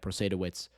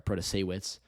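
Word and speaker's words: Protasiewicz: um or Democratic nominee Janet persetowitz or sorry proto-seiwitz I keep mixing up the syllables but Janet proto-seiwitz almost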